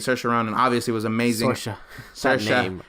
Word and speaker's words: Saoirse: Saoirse rhymes with inertia. Saoirse.